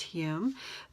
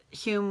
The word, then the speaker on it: Hume: He was born David H-O-M-E, still pronounced Hume, but people could not pronounce Hume with an O, so he changed it to H-U-M-E.